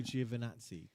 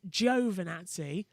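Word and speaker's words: Giovinazzi: to pronounce because uh crofty does it as joe vernazzi joe martin brundle the ted kravitz is uh giovannazi but it's with us it's jio for nazis because it's a g it's italian it's jio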